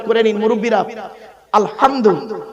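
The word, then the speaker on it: الحمد: উচ্চারণ করে নিন মুরুব্বরা আলহামদু আলহামদু এ গলার ভর থেকে উচ্চারণ করবেন আলহামদু আলহামদুলিল্লাহ মানে হচ্ছে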